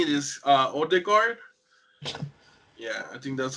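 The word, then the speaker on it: Ødegaard: So I believe the way you say it is Odegaard. Yeah, I think that's how you say it, Odegaard.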